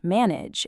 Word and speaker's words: manage: Words like village, manage, and damage don't actually have a full age sound. The ending sounds much more like itch.